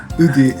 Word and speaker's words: Woody: The Japanese pronunciation Yeah. for that is difficult. Udi is Woody.